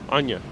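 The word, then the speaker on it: Áine: Oh, Martin, is it pronounced Anya? With A-I-N-E? It's an Irish name? Thank you. Anya.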